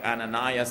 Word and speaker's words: Ananias: zafira By the way in pronouncing biblical names It's always safest and most correct to pronounce it the Tagalog style rather than the American Style like ananias and safira dahil ang